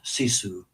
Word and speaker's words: sisu: You use a word in one of your book titles, CISU. I'm not sure I'm pronouncing that correctly. Perfect. U tell us about that word. Yeah. So sisu is such an important Finnish concept.